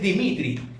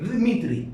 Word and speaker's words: Dmitri: De hecho es Dimitri, pero se pronuncia, o sea, se escribe Dmitri, porque es una D sin la I.